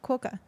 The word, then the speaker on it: quokka: Letters Q-U-O in quokka say qua. Try saying wa, qua. Qua. Quokka. The Quokka. stress is on the first syllable. Interesting. Qua is long and ka is short.